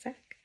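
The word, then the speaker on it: sacque: And it's pronounced sack. So sack it is.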